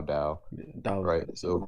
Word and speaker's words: Dao: Ta dao that was the right way to say it I think yeah correct correct